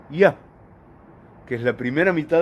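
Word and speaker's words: יה: Y el nombre que estoy traduciendo por Dios, de entre los posibles, es el nombre que se pronuncia Yah, que es la primera mitad del tetragramatón.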